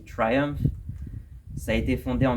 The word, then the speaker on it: Triumph: On a le tout début de Triumph, que les Français vont prononcer Triomphe, mais en vrai ça se dit Triumph.